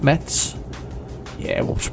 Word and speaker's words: Metz: I need to move over to one that says metz sorry you pronounce it Mets ya want to pronounce